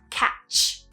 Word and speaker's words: catch: just be careful there make sure you're pronouncing that consonant sound at the end and you're not adding a vowel sound after it so catch catch and that's it for